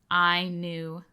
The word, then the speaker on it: Ainulindalë: I know even this title is a little bit intimidating to pronounce, but as far as I understand, it's Ainulindalë, like Ainulindalë, like you get it.